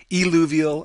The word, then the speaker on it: eluvial: So you have to be careful with your pronunciation, eluvial and illuvial.